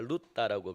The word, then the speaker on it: 룻다: 이 룻다는 이 룻의 헬라식 발음인데 룻에서 이 헬라식 발음을 하니까 룻다라고 그렇게 불려지는 곳인데 이